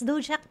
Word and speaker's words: DOJAC: Do we pronounce it as dojac? Yes, dojak po yung shortcut for DOJ Action Center.